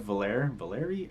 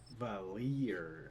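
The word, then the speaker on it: Valere: hear the horn of Valeri? I should have checked that pronunciation. Okay. Valir. Somewhere in the back of my mind I could hear the horn of Valir calling me back.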